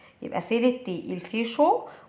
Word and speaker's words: chaud: شو CHAUD والدي هنا مش بتتنطق.